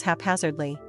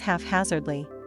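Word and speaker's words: haphazardly: This next English word I am sometimes guilty of mispronouncing along with many other native English speakers. The word is halfaphazardly. But some people think it's half-hazardly.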